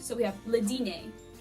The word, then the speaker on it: dîner: So we have le dîner. Sometimes you pronounce R's in French, sometimes you don't. But in this case, we don't. Le dîner.